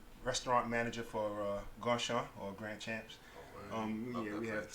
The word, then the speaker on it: Grandchamps: Grandchamps. The real pronunciation for that is Grandchamp. Yeah, word. But yeah, I mean, I've Americanized it, so it's Grandchamps.